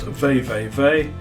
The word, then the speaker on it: VVV: to the vvv office it's pronounced vve V well most Dutch people speak good English but saying vve ve does help now there are many